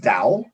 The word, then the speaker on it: DAO: doubt um d-a-o spell so it's d-a-o pronounced dow and what it is